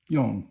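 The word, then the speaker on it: 用: Now the next one is yong, which is fourth tone, and that means to use.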